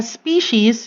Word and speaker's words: species: a taxonomic rank again it is always written with letter s and pronounced as in plural form species even if you're just